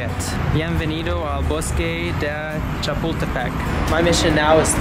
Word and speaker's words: Chapultepec: how to say it bienvenido a bus Kade Chapultepec my mission now is to find that Lake